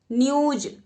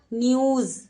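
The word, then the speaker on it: न्यूज़: न्यूज, न्यूज तो कोई शब्द नहीं है, न्यूज। हम गलत उच्चारण कर रहे हैं। तो जैसे ही आप यहां पर बिंदु लगाओगे तो कैसा उच्चारण हो जाएगा? न्यूज।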